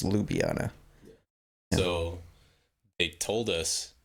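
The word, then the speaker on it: Ljubljana: was name City lubiana or Li libyana I can't pronounce it right but I think it's lubiana so they told us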